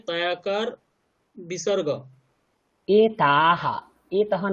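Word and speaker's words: এতাঃ: উচ্চারণ ঠিক করে করবেন, নাহলে কিন্তু ভুল হয়ে যাবে। এতাহা, দেখুন বিসর্গের আগে কি আছে? আকার আছে না, তো আকারের উচ্চারণ তো দীর্ঘ, আমি তো বলেছি লতা। তো এতাহা, এতাহা, এতাহা স্পষ্ট উচ্চারণ করুন।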